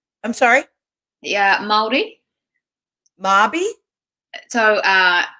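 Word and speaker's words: Māori: years ago by the miori i hope i'm saying that right mayori maori i'm sorry yeah maori marby so uh you kind of roll the r um so you the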